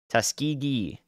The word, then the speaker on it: Tuskegee: the Alabama Georgia border ghee Tuskegee hard G what's a soft G